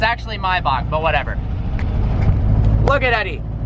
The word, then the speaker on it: Maybach: You guys don't like the way I pronounce Maybach? Then I'm gonna call it Maybach. Just kidding. Maybach music. It's actually Maybach, but whatever.